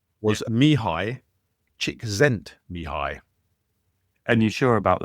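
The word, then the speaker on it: Mihály: Mihaly. I know it's counterintuitive, but yeah, it's Hungarian. Mihaly Csikszentmihalyi.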